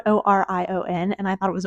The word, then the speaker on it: Orion: are reading these books and you're like who's it's spelled o r i o n and I thought it was oron at first listen to the audio book of